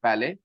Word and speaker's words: ballet: T is silent, ballet, ballet, ballet.